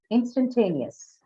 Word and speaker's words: instantaneous: Okay, because stress is on what? The third syllable, and ter appears at the beginning of that stress syllable. Hence, instantaneous also has a aspirated ter here.